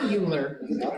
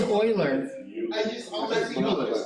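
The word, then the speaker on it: Euler: an exponent look up Oilers equation that's how you say the name Oiler it is not uler it is Oiler this is showing that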